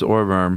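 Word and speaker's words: Ohrwurm: In German it's Orverm.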